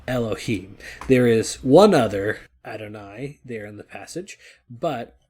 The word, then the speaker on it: Adonai: It is the Tetragrammaton, YHWH, the name that we try not to pronounce here, but Adonai is how our Jewish siblings will say it.